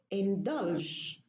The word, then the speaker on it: indulge: Same thing, indulge. The ja is this ja is reduced into ja if there is an L before it. So whether there is an L or an N, the same rule applies. Indulge.